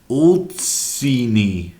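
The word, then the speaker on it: Ulcinj: you saying Nicola I'm never gonna get that pronunciation I'm just giving up okay all Seanie old same old Seany Seany Seany okay very good Nicola we actually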